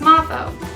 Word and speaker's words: Moffo: And I've heard all kinds of pronunciations, and the proper way to say it is Mrs. Moffo.